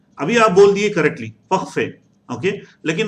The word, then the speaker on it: parfait: देखिए आप अभी parfait बोले कोई, no issues. आप जो है दिमाग में रखना है. ये प्रोनाउंसिएशन को दिमाग में रखना है. अगर हम कल को हम ये प्रोनाउंसिएशन के बगैर भी पढ़ते हैं तो देन आपके दिमाग से खुद ब खुद निकलना है पखफे, पखफे.